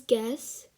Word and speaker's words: guess: yeah let's get started the first word we have is guess and you don't pronounce the u you just pronounce it as it's g e double s and not g u